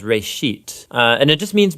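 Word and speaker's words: בראשית: Genesis comes from a Hebrew word. Uh it's pronounced reit.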